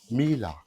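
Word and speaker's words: Miele: Ang laundry is ano Mila. They pronounce it Mila eh. Mila is a German brand.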